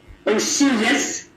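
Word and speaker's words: Osoyoos: Now, tell me a little bit about Oshiosh itself, where you're living right now. How did the name come about? Where does the name generate from? Okay, it's pronounced Osuyas, and it's from First Nations.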